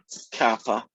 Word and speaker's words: kappa: called kappa t so it's a greek letter that looks like a k but it's actually pronounced kappa but non-americans you'll probably call it caper or something just annoy